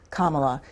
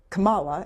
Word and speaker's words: Kamala: screen's ever ever talk the vice president pronounces her first name Kamala you mispronounce it do you do that on purpose no ma'am I don't know how she pronounces it I've never this is the first time anybody's ever ever told me that how did I say it you said Cala and it's okay well